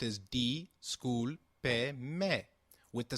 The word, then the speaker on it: discúlpeme: Discúlpeme is pronounced as discúlpeme, with the sound of pe like in pet and me like in met. Can you try it, please? It is called discúlpeme.